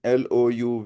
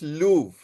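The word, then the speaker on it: Louvre: Yes, it is Lou. You're right. L O U V R E. The pronunciation is Lou. R is actually silent.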